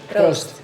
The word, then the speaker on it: proost: Proost.